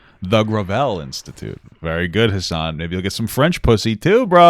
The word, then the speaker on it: Hasan: though because i would i normally would have pronounced his name like hassan but like it's hassan like gravel gravel gravel you